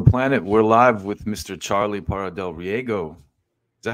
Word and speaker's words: Charlie Parra del Riego: Charlie Parra del Riego.